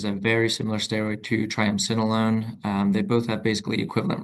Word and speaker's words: triamcinolone: Just he was interested on your thoughts on status quo splinting, which you kind of gave, and I can't pronounce this injection, triama. Triamcinolone.